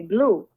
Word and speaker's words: Bleu: good, like, and and I decided to spell it Bleu because I'm Haitian. So, so it's like baby blue.